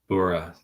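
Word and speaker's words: Buğra: It's read like Buddha. Bura. Same as Chadu goes to Chadu. Interesting. Buddha. In Japanese, Boora would be pronounced Buddha, literally. Buddha. But Bura.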